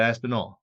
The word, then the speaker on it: Aspinall: I asked him how to say it the when he was in New York for this event, UFC 295, and he said Aspinall.